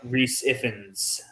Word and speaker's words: Rhys Ifans: pronounce that um yeah I spent the entire time thinking it was pronounced the same way that uh Ray fines pronounced his name great finds yeah maybe